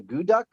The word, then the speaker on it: Akutaq: And it's actually called a guduk. Guduk. And it's spelled actually Akutaq.